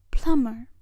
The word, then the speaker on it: plumber: the spout PL mer plumber the B is silent in this word Plummer plumber kitchen kitchen